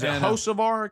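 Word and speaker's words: Hocevar: Is it Hosavvar? Yeah. Hosavvar.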